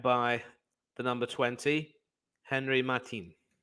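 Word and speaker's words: Martín: Henry Martin it's not Mata it's Martin in Latin it will be pronounced and uh just showing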